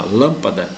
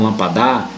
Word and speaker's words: lâmpada: uma uma palavra eh que é proparoxítona lâmpada não lampadar né Eh colocar o acento